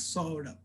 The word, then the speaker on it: Saurabh: is technically pronounced as okay so technically my name is pronounced as saurabh right and you know